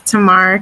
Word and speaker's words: Tamar: And Tamar, I hope I'm pronouncing your name correctly. It's good. My name is Tamar.